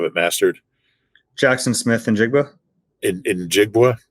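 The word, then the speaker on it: Njigba: Jackson Smith and Jigba? In Jigba? In Jigba, yeah.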